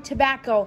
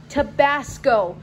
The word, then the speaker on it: Tabasco: it wrong to bat he only said a wrong tobacco we he we have Tabasco not tobacco Okay so I feel